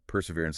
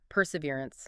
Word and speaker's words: perseverance: Yeah, perseverance is our third key word, and it's definitely the more active behavioral part of grit. Okay, let's get the pronunciation right. This one's a bit longer. Perseverance.